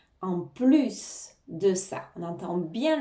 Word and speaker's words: plus: prononcer le s en plus de ça on entends bien le S hein contrairement à la négation ne plus on va pas prononc le S ici on va bien le prononcer en plus de ça